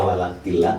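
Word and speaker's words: ولكن: Tulisannya walakin, ya, dibaca walakillah karena idgham bila guna. Tapi kalau mau mencari makna ya dibacanya walakin.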